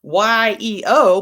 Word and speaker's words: Yeo: Yeo, yes, it's spelled Y-E-O, but it's Yeo.